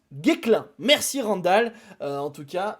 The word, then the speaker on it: Guesclin: ôter ses sa annonce on prononce guiclan merci randall en tout